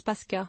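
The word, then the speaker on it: Паска: en biélorusse note le linguiste le mot se prononce paskaa autre dictionnaire et encyclopédie il existe de nombreux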